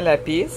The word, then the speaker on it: lapis: C'est un lapis lazuli. Ça se prononce vraiment lapis.